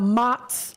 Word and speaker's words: Mott's: Mott's Lounge.